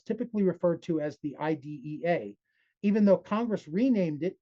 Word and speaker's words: IDEA: referred to as the IDA, even though Congress renamed it in two, it doesn't matter. Nobody in the public schools pronounces it as IDEA. If you do, it'll mark you as an outsider.